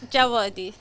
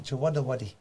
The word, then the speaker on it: Jawadi: It sounds Jawadi. Jawadi. Jawadi. Sounds V. Jawadi. Yeah. Okay. Yeah, the W was a mistake. Right. Yeah, oh really? What? So okay, because it sounds like a song. Jawadi.